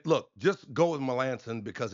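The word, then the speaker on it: Melancon: Okay, that's not Melanson. It's Melanson.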